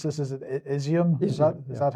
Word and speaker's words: Izium: Is it Izium? Is that how you pronounce it? Yes, Izium.